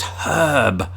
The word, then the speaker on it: herb: getting all confusing but it's herb herb although we don't pronounce the R in in herb oz Brits either unless